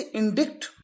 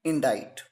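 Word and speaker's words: indict: आप इसे इंडिक pronounce करते हैं। लेकिन इसका करेक्ट प्रोनंसिएशन है इनाडाइट।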